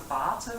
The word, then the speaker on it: Vater: In German, you have Vater. We spell it with a V, but it's just how they represent it. It's still an F.